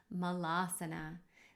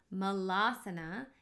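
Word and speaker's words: Malasana: pose which is called mal asana so mullah sana is the word mullah plus the word asana becomes a mullah sana and it actually means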